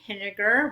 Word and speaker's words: Pinniger: Hi, I'm Pinniger, rhymes with vinegar with a P as in pickle, and I'm a volunteer for DRA 8 in Alabama.